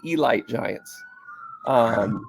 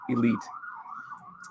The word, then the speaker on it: Elite Giants: So it was the Elite Giants. They'd look at you funny if you called it elite.